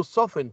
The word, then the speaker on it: soften: To soften, T is silent.